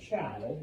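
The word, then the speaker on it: Zhou: But eventually a group known as the Chow, and it's pronounced Chow, even though I know there's a Z there. A group known as the Chow comes to power, and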